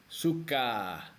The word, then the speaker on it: suka: Russian Suka okay so remember the stress goes on the first syllable Suka and the word Suka